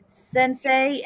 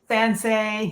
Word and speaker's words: Sensei: And Karen is going to be giving away a copy of Sansei and Sansei.